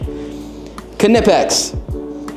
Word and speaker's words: Knipex: tools these are our new tools sorry English knipex we have confirmed that that is the proper pronunciation is it I think so I mean